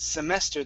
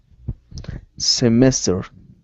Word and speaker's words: semester: the semester okay uh one more time instead of semester it's semester the stress is in the middle semester uh-huh very good all